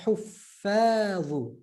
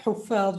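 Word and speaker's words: حفاظ: Huffadhu. Like we say huffadh. And those you know, when you type huffadh, you type a double F. Double F in Arabic pronunciation, emphasized. Huffadhu. Right? So not huffadh, huffadhu.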